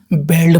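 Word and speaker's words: bald: इसको देखने में लगता है दोस्तों ए से बेल्ड पर आ जाएगा, लेकिन बी ए का उच्चारण यहाँ बा, ठीक, बो सॉरी बो होगा, यानी बॉल्ड मैन।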